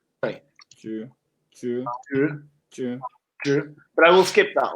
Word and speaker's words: 纸: Yeah, it's 纸. Sorry. 纸.